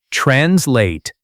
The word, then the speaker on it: translate: Repeat after me, translate. Pronunciation tip, the stress is on the second part, translate.